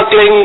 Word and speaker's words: क्लीं: तो इसका उच्चारण होगा क्लीं गाय, पीछे ग की ध्वनि निकलेगी, क्लीं क्लीं क्लीं।